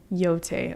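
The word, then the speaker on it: Yōtei: Yote.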